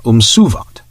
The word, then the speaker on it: umsuvat: Empire was umsuvat, with the emphasis upon the second.